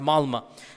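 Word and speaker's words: Malmö: malma malma it's it's it's spelled with an O but it's pronounced malma and they said that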